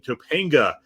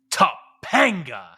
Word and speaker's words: Topanga: best known for portraying Topanga in Boy Meets World. Of course, Fishel is a huge wrestling fan, apparently. Hold on, Fred. You didn't say it right. Topanga. You got to have that emphasis.